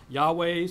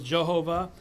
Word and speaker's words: Yahweh: different pronunciations people use Yahweh one of the most popular ones King James says Jehovah some say yahovah because there was no J some say yahovah because there's no v um I eventually landed